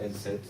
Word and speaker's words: ENSEEIHT: Tout simplement, on prononce N7 et c'est comme ça que l'identité de l'école se forme un peu partout.